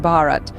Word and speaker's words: Bharat: On the other hand, Bharat, pronounced Bharat, holds deep cultural and historical roots.